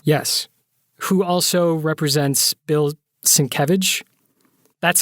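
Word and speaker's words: Sienkiewicz: right jesus representative yes who also represents bill cinquevich that's how you pronounce his name by the way i [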